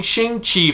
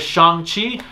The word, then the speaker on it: Shang-Chi: i hear it as shanghi makes far more sense given that there's always the long a in the asian cultures with their names and words and everything being that